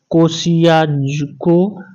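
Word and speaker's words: Kosciuszko: Africa के mount Kilimanjaro, Europe के mount Elbrus, Australia के माउंट कोसियाको या कोसियको भी बोला जाता है, इसको प्रोनाउंसिएशन में अलग अलग होता है। तो ऑस्ट्रेलिया के माउंट कोसियको,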